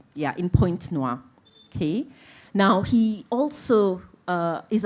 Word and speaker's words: Pointe-Noire: Pointe-Noire. Yeah, in Pointe-Noire, okay?